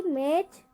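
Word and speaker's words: match: सभी में क्या आ रहा है, टी के तुरंत बाद क्या आ रहा है, CH। तो हम टी का उच्चारण नहीं होगा।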